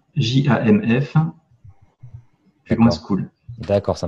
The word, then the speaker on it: Jamf: C'est Jamf, J-A-M-F, plus loin School.